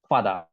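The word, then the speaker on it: father: তো I love my ফাদার very much, এখানে আরের উচ্চারণটা হয় না আর কি, ফাদার এরকম উচ্চারণ হবে।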